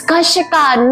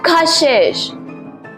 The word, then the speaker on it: Kashika: It's Kashika, not Kashish.